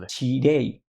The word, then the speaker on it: Nichirei: Que es cuando una cadena de congelados, a ver si lo pronuncio bien, todo mal en este capítulo. Dale. Nichirei.